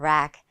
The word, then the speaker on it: rack: 혀 뿌리에서부터 좀 힘을 주면서 발음해보세요. rack.